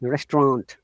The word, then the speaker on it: restaurant: sure you know that restaurant is a french word that's a restaurant and should be through our nose restaurant yeah like like similarly